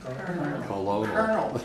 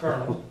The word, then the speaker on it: colonel: How do you pronounce this in English? Colonel. Colonel. Colonel.